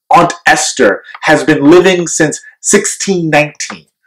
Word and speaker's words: Ester: african-american community with her name that sounds like the word ancestor aunt Esther has been living since